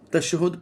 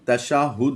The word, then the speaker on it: تشہد: درمیان بیٹھتا ہے۔ اب تشہد پڑھتے ہیں۔ اصل لفظ تشہد نہیں، تشاہد ہے لفظ، تشاہد، تشاہد، تو لفظ تشاہد ہے، اسے ہم کس طرح پڑھیں گے؟